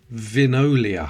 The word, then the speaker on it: Vinolia: Vinolia, I think that's how you pronounce it.